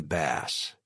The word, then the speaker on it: Bass: To his right was another partner that I recognized from Hackett's firm's website, Gregory Bass, pronounced like the fish, not the guitar.